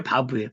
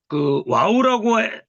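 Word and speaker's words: ו: 이게 바부예요. 바부. 바부라고 했을 때 요 글씨가 뭡니까? 또 비읍 부로 발음되죠. 근데 우리 와우라고 하기도 하기 때문에 이게 우 발음도 돼요. 우 발음도. 같이 요거 알고 있어야 돼요.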